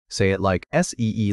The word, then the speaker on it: samadhi: The second group is samadhi — "sa-MAH-dee" — mental discipline.